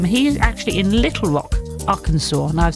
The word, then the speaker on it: Arkansas: The way it's spelled Arkansas, it's spelled Ark Kansas.